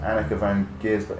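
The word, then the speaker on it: Anneke van Giersbergen: And she played, I think she might have sung backing vocals with Annika van Giersbergen. Is that how you pronounce it? Annika van Giersbergen?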